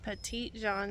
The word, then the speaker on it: Petit Jean: guys we are at petite John state park I think that's how you say it in Arkansas so